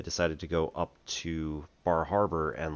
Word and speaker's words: Bar Harbor: in the real world called Bar Harbor or Bahava.